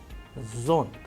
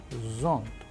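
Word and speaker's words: зонт: The English approximation of this sound can be found in this word as in zoo, zoo. A sample Russian word which we have used so that you understand this particular sound clearly as in zont, zont, which means umbrella.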